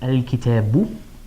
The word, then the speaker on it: الكتابُ: I would add a dhamma there, so I would pronounce it al-kitabu.